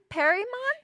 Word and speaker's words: Perymon: I have PERYMON.